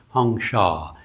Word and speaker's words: Hong Sau: Hong Sha H O N G S A U is how he spelled it. He pronounced it more like a Bengali, which is what he was.